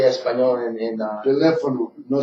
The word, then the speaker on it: teléfono: How do you say español in Teléfono, no Telefono.